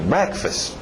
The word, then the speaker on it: breakfast: Olha o ritmo, breakfast. O first vai morrendo, breakfast.